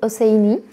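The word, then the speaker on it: Hosseini: Splendid scents by Khaled osaini hussaini because I'm French I don't pronounce the h a friend recommended me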